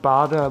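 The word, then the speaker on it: Baader: It's pronounced Bada with a long A. So you say Bada. If you have a double A, it simply prolongs the A sound.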